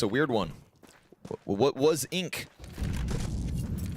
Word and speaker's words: Wasink: Can't pronounce that. You're French. I know, it's a weird one. What was Ink? Wasink.